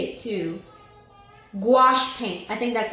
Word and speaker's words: gouache: Gouache paint.